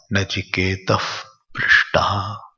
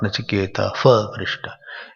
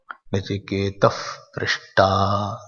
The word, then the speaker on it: नचिकेतः पृष्टा: When Visarga is followed by Pa and Pa, half Fa is pronounced.